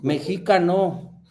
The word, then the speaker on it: Mexica: de que no dejáramos de ser mexica, que es la palabra como se pronuncia, y que nos convirtiéramos